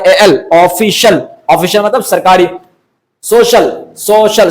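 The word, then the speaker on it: social: ओ सी आई ए सोशल सोशल सोशल का मतलब क्या होता है समाज समाजी तो इस तरह सी आई ए का साउंड भी यहां पर श ही होगा जिस तरह अ कमर्शियल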